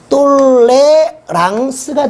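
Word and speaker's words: tolérance: 알고 있는 단어 중에 영어로 하면 탈러런스 발음이 좀 문제가 있죠 제 발음이 좀 안 좋습니다 근데 이걸 프랑스의 브런식으로 발음하면 똘레랑스가 되겠죠 이걸 번역해 온 사람이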